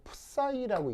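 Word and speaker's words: psi: 읽을 때 어떻게 읽냐면 정확하게는 이렇게 읽거든요. 푸사이라고 읽는데 이게 푸사이 하다 보니까는 그냥 파이 이렇게 돼버렸어요. 그래서 한국에서는 이제 파이라고 읽어버리는데 원래는 정확하게는 푸사이 그래서 발음이 좀 어려운데 뭐 여하튼 그래서 보통 웬만하면 그냥 다들 파이라고 읽을 겁니다.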